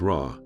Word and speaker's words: Ra: That same sun disk, pronounced Ra, could be used to spell out parts of other words.